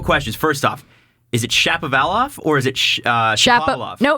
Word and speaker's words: Shapovalov: It's Shapovalov.